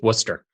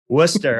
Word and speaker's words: Worcester: the area is is Worcester Worcester of course I love it yeah you you wouldn't you wouldn't pronounce that correctly if you saw it spelled nor could you spell